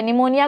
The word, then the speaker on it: pneumonia: आप piece Ireland है निमोनिया का स्पेलिंग टाइट होता है पीछे जिसमें पी आपका साइलेंट है तो आपको याद क्या